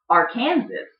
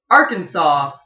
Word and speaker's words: Arkansas: very very angry if you call it our Kansas its Arkansas don't call it Arkansas you'll make them angry